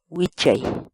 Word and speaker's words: wichay: de videos en la que te enseñamos a pronunciar algunas palabras en quechua. Así que nuestra palabra del día por hoy es Huichay, huichay, huichay, la palabra quechua.